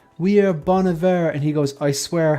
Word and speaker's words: Bon Iver: of people pronounced it Bon Iver but it's actually called Bon Iver because it means good winter in French or something like that